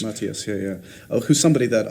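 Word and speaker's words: Matthias: corre correctly pronouncing his he doesn't mind how you say it but it's mattius mattius yeah yeah who's somebody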